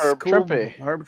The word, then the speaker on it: Trimpe: Trimpe. Herb Trimpe. Rhymes with So Trimpe.